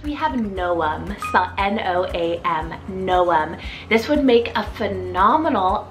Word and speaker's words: Noam: means wiser next we have no um n-o-a-m noem this would make a phenomenal other alternative to